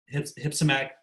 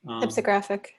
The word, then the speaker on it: hypsographic: So you need to change its hypsomographic curve. Is that right? Is that the right pronunciation? Hypsographic. Hypsographic.